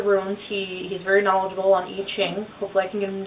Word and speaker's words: I Ching: Another form of divination that you may know about but don't really come across very often is I Ching, or sometimes pronounced I Ching.